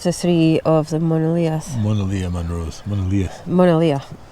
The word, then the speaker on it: Monadhliath: Monadhliath, not the TH.